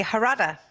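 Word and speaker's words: Jarada: It was a name that was almost sort of Spanish pronunciation.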